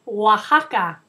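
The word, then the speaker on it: Oaxaca: another state in Mexico and its name is Waka kind of a tricky word to pronounce Waka Waka is at the bottom of the country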